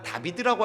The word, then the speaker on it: 다윗: 히브리식으로 발음되던 다윗을 정확하게 말하면 다비드라고 할 수 있는데, 이 다비드를 영어식으로 읽으면 데이비드가 돼요.